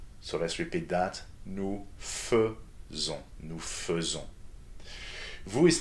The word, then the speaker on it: faisons: Nous faisons. So we've seen before that the combination of a and i together is supposed to be pronounced as e. But in this verb, it is an e that needs to be done.